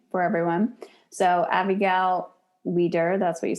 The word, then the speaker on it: Wieder: Avigail Wieder. It's spelled Abigail.